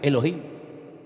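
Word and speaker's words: אֱלֹהִים: Y el primer nombre que conocemos de Dios y empezamos a leer la Biblia desde el principio es un nombre que se pronuncia Elohim.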